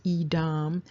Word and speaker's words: Edom: And so you can see that it's pronounced Edom, and it is a Hebrew name.